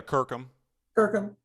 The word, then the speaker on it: Kirkham: So now, Kirkham, am I pronouncing that right? Yeah, Kirkham.